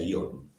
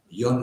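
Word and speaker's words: Jon: Yo le pregunté a un vasco que no se pronunciaba esto, se pronuncia Ion, J-O-N, Ion Arrieta.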